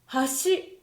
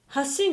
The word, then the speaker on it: 橋: 例えば、橋と箸。ここに橋があります。ここに橋があります。